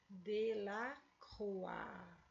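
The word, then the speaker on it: Delacroix: do século 19 e ele se pronuncia de la rua certo olha aqui como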